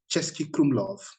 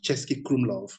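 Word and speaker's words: Český Krumlov: amazing places like there's a particular place called chesky krumlov yeah this one in particular if you want to write it down chesky krumlov how do you spell that uh you say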